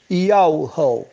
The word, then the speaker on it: Yahu: E a pronúncia do nome, o Pai me fez saber, Yahu.